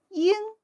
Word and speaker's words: 鹰: Note, 'ying' is a holistic recognition syllable, does not need spelling.